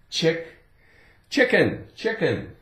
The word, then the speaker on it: chicken: Ick, chicken. I think most people like chicken. They like to eat chicken. Okay, the C is silent, so we have the I, the K, chick, ick, chicken.